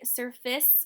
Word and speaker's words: surface: So the reason why we say surface with this at the end is because when you see a C next to an E, it makes the soft C sound, which is the S sound.